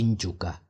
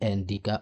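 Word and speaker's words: Ndyuka: They cannot say injuka. You see I saying juka they cannot they will say andika or juka.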